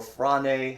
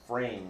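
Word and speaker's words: φρήν: or phrane, however you want to pronounce it, but I believe the correct Greek way of pronouncing this is frame. This letter right here, the eta, has a long A sound, frame.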